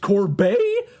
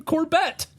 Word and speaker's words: Corbet: posted just a still up Homer saying it's pronounced Corbet I've been calling him corbette oh I've been making an idiot of myself